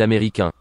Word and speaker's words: américain: Chúng ta cùng phát âm ở cái American nhé. Américain. Đó, nó có một chút âm mũi ở trong đó, âm an.